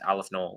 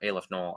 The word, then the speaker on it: aleph null: It's Aleph Null or Aleph Null. I like Aleph better, but you can pronounce it either, and I prefer Aleph.